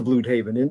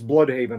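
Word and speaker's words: Blüdhaven: And I think he brings that to Bloodhaven in the way that they do him here.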